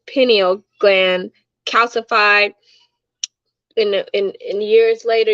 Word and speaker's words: pineal: water, uh keep your penile, I call it penile, but that's not how you say it, pineal gland calcified, in years